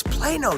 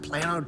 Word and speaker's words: Plano: Plano Texas Plano Texas don't say it wrong Kevin its Plano Texas not playing on Texas get it right okay